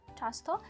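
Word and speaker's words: często: Ч тверде чапка часто м'якше вимовляється.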